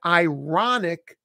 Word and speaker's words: iron: American pronunciations the word ironic that's ironic you push the r but the word iron that R comes after the vowel it's a very unusual